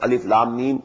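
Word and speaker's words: الم: broken broken into pieces not pronounced as alif lam mean alam no alif laam me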